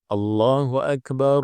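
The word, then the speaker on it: الله أكبر: jelaskan tadi ya sementara kalau disambung maka cara bacanya adalah allahu akbar allahu akbar allahu akbar I kalau disambung ya Allahu akbar Allahu akbar jadi ro yang di tengah ini Akbar pertama domah ya berarti rnya tebal demikian pula rnya yang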